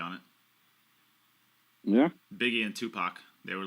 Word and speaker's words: Tupac: Did you just say two-pack? What am I supposed to call him? Double pack or? It's Tupac. Pac.